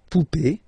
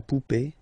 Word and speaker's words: poupée: Remember, this final E is not pronounced, so you will have this E. Remember, accent aigu, it's E sound, okay? La poupée, the doll. L'arrivée, the arrival, okay? La poupée, l'arrivée, so feminine as well.